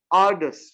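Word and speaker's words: arduous: बड़ा अच्छा वर्ड है एकदम नया वर्ड है are does are does spelling A आर डी यू ओ यू एस आडस मैं दोबारा से बोल रहा हूं ए आर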